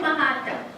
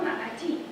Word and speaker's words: Maratti: Because German people say Chiaro Maratha, but the artist filmed Chiaro Maratti. M-A-R-A-T-T-I-R-A, depending on what country you live in.